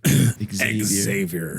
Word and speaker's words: Xavier: I feel like you had to over Xavier. I want to say Xavier every time. The X is silent.